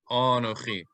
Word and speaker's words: Anochi: So instead of Anochi, we would say Anochi, Anochi.